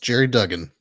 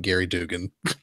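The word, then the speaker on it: Gerry Duggan: it yes who I recently found out it's pronounced Jerry Duggan yeah he's not he was on a podcast I listened to the other day and apparently it's Jerry Duggan not Gary Dugan it's kind of G in it yeah sometimes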